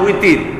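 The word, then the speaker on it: وتر: তো যেমন বিতির নামাজ বলি না আমরা বিতির, আসলে তো নামাজের নাম বিতির না, নামাজের নাম হচ্ছে উইতির। ওয়াও তারা উইতরুন, কিন্তু ওয়াওকে আমরা বা উচ্চারণ করি আমাদের ভাষায়, এই জন্য উইতিরকে আমরা বিতির বলে ফেলি।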